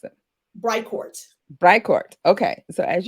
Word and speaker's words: Bricourt: name pronounced record bright core how do you pronounce it bright court bright court okay so as you guys know